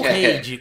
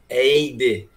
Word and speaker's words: Heide: Ou Reide, qual é a pronúncia correta? Eide.